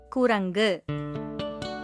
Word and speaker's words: குரங்கு: ஆனா பொட்டி அப்படின்னு சொல்றது தவறான உச்சரிப்பு. இது குரங்கு.